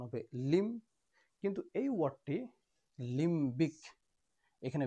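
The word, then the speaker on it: limbic: এর উচ্চারণ হবে লিম। কিন্তু এই ওয়ার্ডটি লিম্বিক।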